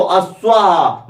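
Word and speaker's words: अश्वाः: तो वहां पे था एक वचन में अश्व, अश्वो, द्विवचन में, बहुवचन में अश्वाहा, मतलब आ का उच्चारण और उसमें विसर्ग, तो अश्वाहा मतलब बहुत से घोड़े।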